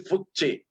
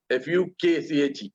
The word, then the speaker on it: Fukche: Now we will first pronounce Fukche correctly. So it is Fukche, Fukche. Okay.